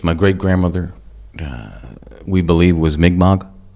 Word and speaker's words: Mi'kmaq: My great-grandmother, we believe, was Mi'kmaq. A lot of people say Micmac, but the way to pronounce it, and those are the native peoples from up in eastern Canada, Maine area.